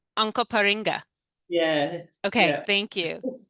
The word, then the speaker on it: Onkaparinga: Could you pronounce that again? Because I want to make sure we get it right. Onka Onkaparinga, Onkaparinga.